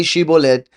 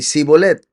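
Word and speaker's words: Shibboleth: So they couldn't say shibolet, they could only say sibolet.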